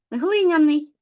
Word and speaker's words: глиняний: глин плюс суфікс ян глиняний але зверніть увагу де у нас наголос наголос найчастіше не падає на цей суфікс падає на корінь так само вода плюс